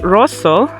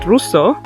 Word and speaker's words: Rosseau: First of all, Lake Rosseau, not Rosseau.